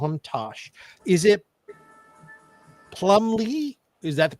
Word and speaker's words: Plumlee: Is it Plumbley? Is that the pronunciation? Right. You got it. Yeah. Plumley.